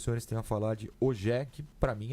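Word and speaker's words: Ogier: E aí ele ficou ensinando os nomes franceses e ele falou Ogé de um jeito que eu não consigo imitar, mas é algo mais ou menos próximo a essa pronúncia.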